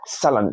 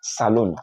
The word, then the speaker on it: salon: So that's salon, not saloon, salon.